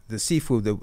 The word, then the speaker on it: Sifu: first of all, the Sifu, it comes from two syllables. The first syllable, Si, comes from the word Lo Si, which means teacher, and the Fu comes from the word Fu Chan, which means father.